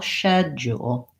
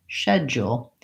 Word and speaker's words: schedule: quite a different pronunciation rather than an SK sound they use an SH sound sure and the same vowel shed jewel shed jewel and then they definitely use the you shed Jewell said schedule if I looked